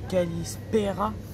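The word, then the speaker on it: Καλησπέρα: prononce Calimera bonsoir en grec ça se dit kalalispera bonne nuit en grec ça se prononce kalalenicaa le café en grec se dit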